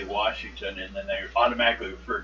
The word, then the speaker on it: Washington: teeth maybe that's it pronounce it with an R and anyone that I've known that has been born in the state or lived in this state all his life never did that but I keep hearing from other states oh yeah they pronounce the r who does Washington that's